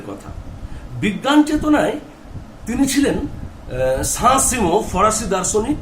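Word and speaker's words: Saint-Simon: ঋণী ছিলেন এর কাছে, সাঁ সিমোর কাছে। ইংরাজি ভাষায় SAINT হয় সেন্ট সাইমন, কিন্তু একই বানান ফরাসি উচ্চারণে হবে সাঁ সিমো।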